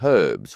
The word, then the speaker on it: herbs: an odd thing because Americans don't pronounce the H in herbs, whereas the English will pronounce the H in herbs.